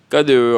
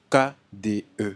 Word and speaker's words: KDE: Mais des fois, tu vas voir, certains disent KD, Hein? KD seulement, sans Ok. prononcer le E. Ouais. Genre sous forme de liaison, je sais pas. La vraie prononciation, c'est quoi? C'est KDE. KDE. Ouais, KDE. KDE.